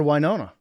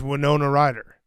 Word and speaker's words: Winona Ryder: I've just I've always called her wiona that's crazy yeah that stopped haning his tracks anyways Adam dur great work yeah we have it send I'm sending it to Max what what the official pronunciation from herself yeah it's Winona Rider from